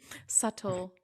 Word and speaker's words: subtle: for that very reason subtle yes subtle so how do you actually say it I mean I know there's no subtle like a d so why is there a b there it's like subtle I